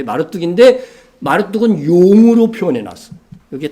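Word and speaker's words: 마르둑: 어떤 사람 말뚝 이렇게도 발음을 하는데 마르뚝인데 마르뚝은 용으로 표현해놨어.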